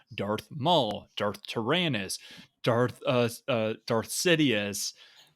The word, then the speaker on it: Maul: Maul rhymes with Paul.